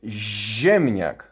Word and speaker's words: ziemniak: And this word is ziemniak, is z-i, is z-i. So the pronunciation is very similar to zi, like źrebak,